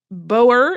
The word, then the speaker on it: Boer: to say it um the Dutch or Africans version my understanding is booer but Boer is very common in the when you're